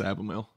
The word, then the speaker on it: Abimael: And then, dude, I've heard everything from Abimael to Abimael to I don't get offended, so. But yeah, it's Abimael.